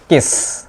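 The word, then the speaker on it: kiss: Okay, R কে আই এস এস এটার উচ্চারণ হবে কিস, ডাবল এস হইলে সেটার উচ্চারণ কিন্তু স্বাভাবিক আমরা যেটা করি স, কিস।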